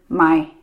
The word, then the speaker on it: My: my middle name is Mai, even though it's M-Y and it's got a slightly different tonal pronunciation. What do you... So the very common name is Mai, and mine is Mai.